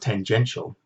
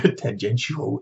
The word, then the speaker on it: tangential: I had to go online and look up how to pronounce tangential and whether it was tangential, because for years I thought it was tangential, because that makes a bit more sense in a way. Like, where's the sh? Why do we need the sh sound in there?